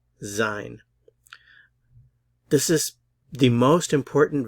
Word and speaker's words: sein: so the infinitive to be in German is zein zine this is the most important verb you'll learn